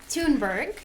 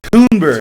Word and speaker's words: Thunberg: Thunberg. Thunberg. All right. The H is silent. Thunberg. I know it throws everything off, doesn't it? Thunberg, especially when you're old and your eyes don't work.